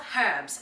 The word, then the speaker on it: herbs: get going let's talk herbes and yes i use the h i pronounce the H so I've got parsley